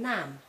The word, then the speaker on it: naam: If you see double a, a, then also you must pronounce it as a, like in naam, which means name.